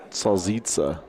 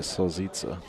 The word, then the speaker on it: salita: What they say is salita. Salita. Was he pronouncing it correct? Am I saying it wrong? No, you're saying it correctly. I don't know why they say Sita. It's just like a regional thing.